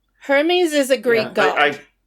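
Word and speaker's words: Hermès: ass scarves that they're Hermes scarves her heres no they're Hermes that's a a a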